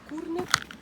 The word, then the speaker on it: Курник: Так, оглядовий майданчик Курник. А курник наголос на перший склад або кам'яна голова.